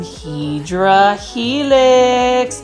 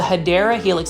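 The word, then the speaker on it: Hedera helix: again we've got some hedra healing or what you call the hadera Helix that's the correct way to say it um we've got the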